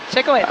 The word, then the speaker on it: Chicowicz: Chicowicz, I said it right.